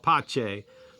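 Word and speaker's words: pace: pe a ce peace in Italian it's called pache a very big fan of it and one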